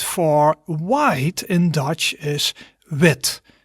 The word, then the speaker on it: wit: white in dutch is wit wit quite similar right but white is a different sound as wit which ends with the strong t sound